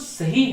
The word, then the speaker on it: सिंह: सिंह, इसे बहुत उच्चारण गलत किया है, सिंह को सिंह कहते हैं, तो सिंह नहीं है ये, यहाँ पर घ नहीं है, ह है, तो सिंह। और वैविध्यम, वैविध्यम, यहाँ पर